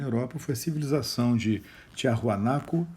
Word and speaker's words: Tiahuanaco: foi a civilização de Tiahuanaco e de Huari, ou Huari, com W. Isso entre 500 e 1000 aproximadamente. Ao que tudo indica, tanto Tiwanaku, que é outra forma de pronunciar o Tiahuanaco, né, e Huari foram capitais, centros de dois impérios.